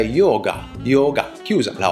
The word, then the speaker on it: yoga: della nostra pratica lo Yoga è la modalità di pronuncia la o in sanscrito è chiusa Perciò non dobbiamo dire yoga ma è yoga yoga chiusa la o